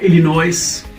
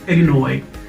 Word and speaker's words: Illinois: usa uh we earnest hemingway yesterday it's not illinois so how do you pronounce it it's illinois and you know it and then we have